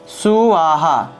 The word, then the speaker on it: স্বাহা: যেহেতু এখানে দন্ত্যস্ব আছে নিচে বফলা আছে, উচ্চারণ হবে এভাবে সুয়াহা, সুয়াহা, ঠিক আছে?